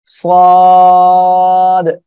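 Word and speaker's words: ص: দেখেন এই যে অক্ষরটা, এই অক্ষরটা একটু মোটা আওয়াজে হবে, হ্যাঁ মোটা আওয়াজে হবে, আর এই অক্ষরে আমরা চার আলিফ টেনে পড়বো, আর কেমন উচ্চারণ হবে সেটা আপনারা একটু খেয়াল দিয়ে মনোযোগ সহকারে শুনুন। সাদ সাদ এভাবে হবে, সবাই একটু বলেন তো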